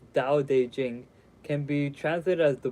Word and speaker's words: Dao De Jing: Vata de Jen pronounced more or less Dao De Jing can be translated as